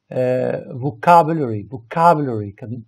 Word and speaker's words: vocabulary: stress هي ملي كنطقوا الكلمة كيكون الضغط على واحد الحرف معين. اوكي بحال مثلا vocabulary stress الضغط يكون على vocabulary.